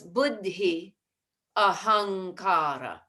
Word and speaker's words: buddhyahankara: I think you left out a sound in buddhyahankara. So it's buddhi ahankara.